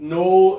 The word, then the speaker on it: know: Because there's just a K on the front, and it's a silent K, right? I know, the silent K is crazy in English. I'm so sorry that it exists. Why do we even have it? But the silent K completely changes the pronunciation of these between these two.